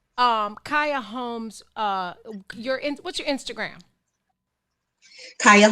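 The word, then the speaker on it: Carya: Kaya Holmes, just C-A-R-Y-A. It sounds nothing like it's spelled, but it's C-A-R-Y-A Holmes, H-O-L-M-E-S, everywhere.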